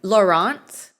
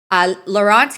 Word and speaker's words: Laurent: I think he pronounces it the Anglophone way. I don't think he pronounces it like a Francophone way.